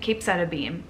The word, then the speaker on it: capecitabine: Capecitabine.